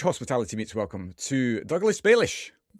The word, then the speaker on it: Balish: And a huge hospitality meets welcome to Douglas Baish.